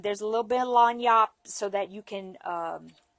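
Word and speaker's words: lagniappe: L A G N I A P P E. And that spells lanyap.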